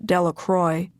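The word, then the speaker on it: Delacroix: jones and dickie delaqua the villagers pronounced his name de la croix eventually made a great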